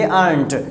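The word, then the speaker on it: aren't: हम लोग इसे बोलेंगे अर्नट। यानी टी को थोड़ा ब्लॉक कम करना है, मतलब कहने मतलब ज़्यादा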